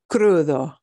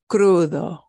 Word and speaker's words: crudo: a c consonant combination you're going to hear a little Trill with this R not a super strong rev it up one it'll be Crudo Crudo Crudo Kaka sounds and